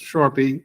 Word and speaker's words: Charpia: name is Sharpie it looks like Sharia but it's pronounced Sharpie and um the uh